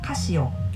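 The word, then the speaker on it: カシオ: Founder's family name Casio so in Japan we call them Casio however they set their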